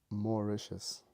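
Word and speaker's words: Mauritius: It's just not a place that you you know like you know this place says haha u it's pronounced moricious.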